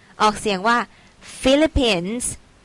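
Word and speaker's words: Philippines: s of เสียง ว่า ฟิลิปปินส์ ตัว PS ใน ที่ นี้ นะ คะ จะ ออก เป็น for fun เนอะ ไม่ ออก เสียง ว่า พิลิปปิน ฟิลิปปินส์ ส่วน เชื้อ ชาติ ของ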